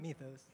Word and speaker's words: Mythos: How do you pronounce it? Mythos.